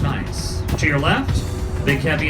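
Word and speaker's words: gneiss: On the right, ice. G N E I S S. Scientific name is pronounced ice.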